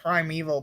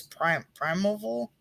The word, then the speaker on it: Primeval: I never say this right, but I call it Primeval, but it's not right. It's Primeval. It's like Prime then Val.